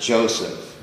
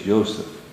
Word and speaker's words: Yoseph: of course not pronounced Joseph no it's Notre it's yoseph so what you have here this this is the yoseph yes exactly as any Hebrew speaking person would pronounce it mhm so yoseph the